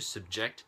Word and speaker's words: subject: pronunciation i had to subject the subject to a series of tests i had to subject verb subject noun to a series of tests so the emphasis is different subject subject 20 how